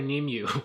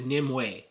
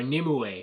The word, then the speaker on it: Nimue: made related to Hellboy, I think I've called her Nimue, so I've been saying her name wrong this whole time. In the movie, they pronounce it as Nimue, or Nimue, or whatever, so that's how you're supposed to say it.